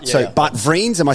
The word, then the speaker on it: Vriends: So Bart Vriends, am I saying that correctly? Hit me up. It's a bit too much of an Aussie way to pronounce Do it. It's just Bart Vriends, actually.